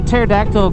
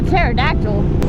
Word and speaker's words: pterodactyl: can't you hear a pterodactyl go to the bathroom a pterodactyl yeah why not because the P is silent come on oh you